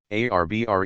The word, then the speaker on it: arbre: in the same way he was taught to pronounce ape singh and tree arbre he was a most eager student and in